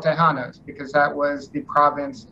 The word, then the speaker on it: Tejanos: correctly, even though I'm a ZZ Top fan, Tejanos? Am I pronouncing that right? Tejanos.